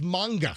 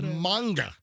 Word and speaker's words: manga: running a little late is the word manga it's not M and first of all you can't even say it right it's manga whatever it's not manga it's manga so there's another word and